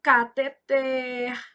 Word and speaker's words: cateter: Então, cateter, oxítona, arém.